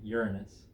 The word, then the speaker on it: Uranus: I'm going to pronounce it correctly. Uranus, not Uranus.